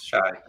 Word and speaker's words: Shay: to change this because we didn't know that the right pronunciation of your name was Shay.